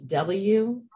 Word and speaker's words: WUCOLS: And I'm going to spell it slow here, the acronym. It's W-U-C-O-L-S, WUCOLS.